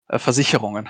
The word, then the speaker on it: Versicherung: Versicherungen.